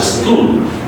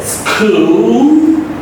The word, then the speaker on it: school: School. All. School. So this is not school because the dark L is there at the end of the word.